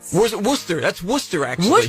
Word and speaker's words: Worcester: Uh, Worchester, Massachusetts. Wor Worcester. That's Worcester, actually.